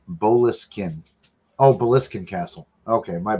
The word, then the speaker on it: Boleskine: Apparently, I'm pronouncing it wrong. What? It's Boleskine.